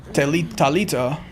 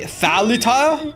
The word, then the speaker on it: Talita: What, you don't think you want me to say Thalita or Thalita? I mean, that's just not how it's pronounced in Portuguese, right? So I think Talita is actually correct, chat.